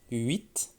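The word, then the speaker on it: huit: 8. Le H, on ne l'entend presque pas, comme par exemple les 8 lapins.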